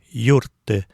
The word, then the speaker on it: юртты: Получается юртты - это значит помогай. От глагола юртыны. Это повелительное наклонение. Второе лицо единственного числа. Тоже ударение на первый слог.